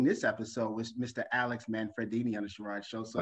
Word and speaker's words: Manfredini: Alex Manfredini. Is that correct? It's correct. You pronounce it perfectly.